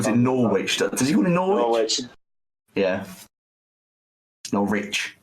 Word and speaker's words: Norwich: Norwich. Just don't pronounce the W.